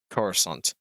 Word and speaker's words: Coruscant: I do apologize but from now on in it will be pronounced as Coruscant except this video because